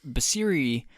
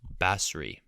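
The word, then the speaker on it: Basri: his slack you know i think it's actually pronounced bassri is it bass free he doesn't deserve any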